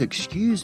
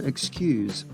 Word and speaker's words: excuse: we pronounce the word excuse. There are two ways to pronounce this word in English. Listen to the way I've been pronouncing it. Excuse. Excuse. Notice the Z or Z sound at the end.